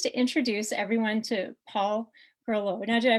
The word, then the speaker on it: Groleau: I'm so pleased to introduce everyone to Paul perlow now did I pronounce that properly yeah you got it right